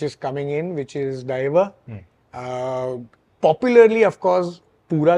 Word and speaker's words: Daiva: everyone has pronounced it as Deva, Dev. Okay. So it is Daiva, and thank you for pronouncing it correctly.